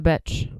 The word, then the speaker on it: Becz: Becz.